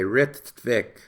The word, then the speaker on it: Rittvik: R-I-T-T-V-I-K, Ritvik. You will thus pronounce the word how it should be pronounced when you read it in any of my articles.